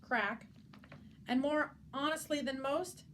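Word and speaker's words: craic: Other expressions for talking to Twinkle-Toes included a chit-chat, sharing the crake, pronounced crack, and more honestly than most, having a good old gossip or dishing the dirt.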